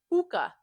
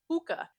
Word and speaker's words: Pooka: Not only is Puka not pronounced cutely in Russian like that, our vowels are very flat, so it would just be Puka, Puka.